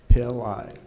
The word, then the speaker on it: Pillai: If you say pill and eyes together, that's how you say it. Pillai.